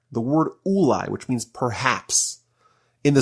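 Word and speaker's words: אולי: The word ulai, when it's spelled this way, can also be read as elai, meaning to me.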